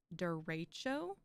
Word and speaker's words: derecho: it should be pronounced derecho like emphasis on the middle syllable and I was just